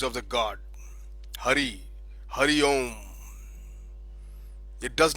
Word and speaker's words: Om: And now, Hindustan, first I talk about the temple hymns in Hinduism, and the mystic word is Om. Om. It is chanted with its elongated form, Om, and believed to have